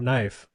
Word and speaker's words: knife: just get rid of it or the word knife you know I instantly think of you and